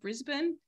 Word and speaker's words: Brisbane: was going to Brisbane but here it's pronounced Brisbane and Australia itself is